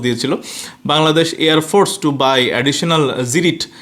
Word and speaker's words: Cirit: Bangladesh এয়ারফোরস by additional জিরিট এটা সিরিট হবে না সি আই আরইটি তো এটা জিরিট উচ্চারণ লেজার গাইডেড মিজাইল ফ্রম